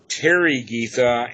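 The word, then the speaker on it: Therigatha: Taragita, the Taragatha, the Tarigita and the Taragita. That's the right way to say it. The I and the E are on the Tara, not on the Gatha.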